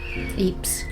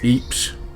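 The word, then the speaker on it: Ypres: thought we'd mention is we've never known how to pronounce this place because someone calls it lepera epra Emperor Eeps someone told me recently it's Eeps but it's spelled YP RDS and it's brilliant it's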